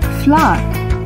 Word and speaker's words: flour: do you pronounce it as flower for example a simple cake can be made out of flour sugar and butter flour